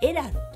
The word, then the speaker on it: Airalo: 、はい、これエラロと言います。